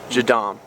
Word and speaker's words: JADAM: stuff all natural so that's how would you spell that j a d a m jadom and so if you guys want to look